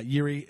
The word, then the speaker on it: Jiří: How do you pronounce his name? Jiří. Yeah, Jiří.